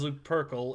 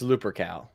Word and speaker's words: Lupercal: no it's uh it's lupercal okay i'm pretty sure they mispronounce it then in gothic armada they do all right uh it's not pronounced uh looper call like nobody says that as far as a